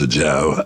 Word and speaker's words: Ajao: Well, I'm Ajao, and it's pronounced Ajao, A-J-A-O.